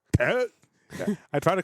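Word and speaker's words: Tết: Yeah, it sounds like It's not a t. It's a th. it's spelled with a T though, but it's like Yeah, but we don't yeah, have no.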